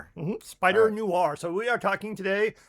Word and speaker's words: Spider-Noir: Spider-Noir. Noir. I don't know that I've ever said it right. It's not an old R, it's a new R. Oh, Noir. Mhm. Spider-Noir.